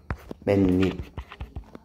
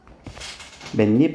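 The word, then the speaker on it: 맨입: 이거 발음 어떻게 나니? 맨잎 맨 어 잠깐만 이거 그러면 뭐가 어떻게 됐어? 여기가 이렇게 체크해 주면 니은이 어떻게 됐어? 생겼네. 그걸 우리는 되게 뭐라고 표현했니? 고차원지 언어로 니은 첨가 기억나니?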